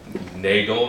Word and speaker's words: Nagel: / monkey is great nagel rhymes with bagel Oh walt disney animation